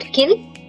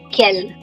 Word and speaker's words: quel: Not kill, quel.